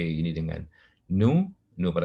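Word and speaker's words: ν: Ini bacanya nu, ya.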